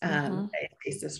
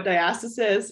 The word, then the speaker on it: diastasis: So I wanted to start with talking about like, what is diastasis recti? And it can be pronounced both ways. So diastasis or diastasis, we hear it both ways.